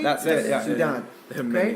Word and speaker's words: saudade: Saudade. There are many pronunciations.